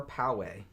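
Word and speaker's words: Poway: was one in California is it po or Powe I've heard it pronounced both ways um they also shot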